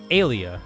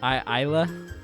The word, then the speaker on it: Ayla: And probably, if she never talked, would be Alia. I think that's how you pronounce her name. Ayla? Ayla, yeah.